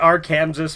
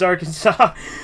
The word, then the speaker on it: Arkansas: and the fact that he pronounced it AR Kanas made it even better yeah yeah it's Arkansas which is why um